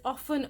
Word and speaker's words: often: this sink in so the T is silent that's all I have